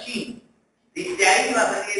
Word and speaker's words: Qin: Muy bien, luego de esta dinastía Zhou aparece la dinastía Qin, que se pronuncia Qin.